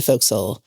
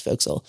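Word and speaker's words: forecastle: And we had the chance to sleep in the folks, which is spelled for castle but pronounced folks.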